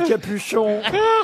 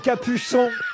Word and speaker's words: Capuçon: C'est pas Capuchon, c'est Capuçon. Oh, parce que vous le prononcez à la française.